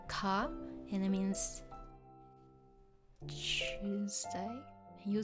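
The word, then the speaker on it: 火: So this one has the fire kanji, but it's pronounced as ka, and it means Tuesday.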